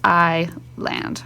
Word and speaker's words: island: up my colors like the word Island right that uh s is silent then I just mark it by doing a slash through it that means silent means I land right anyway so I